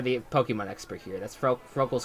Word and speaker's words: Froakie: I believe I'm pronouncing that right. Chet, you're the Pokemon expert here. That's Froakie's correct?